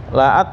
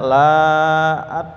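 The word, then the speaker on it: لَ: lam ya La itu makanya lanya bacanya pendek ya Pak He laat gitu ya Kalau salah baca laat maknanya bukan sungguh tidak gitu ya berbalik 180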